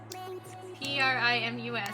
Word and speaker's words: Primus: first weekend let's go it's saying pronounced like p-r-i-m-u-s that doesn't clear it up at all it's like the band Primus wait have you never